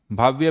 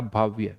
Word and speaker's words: भव्य: भाव्य भाव्य भाव्य बिल्कुल सही आंसर। भाव्य का आंसर आ गया है भव्य या भाव्य, भव्य होगा। नॉट भाव्य, भव्य, right.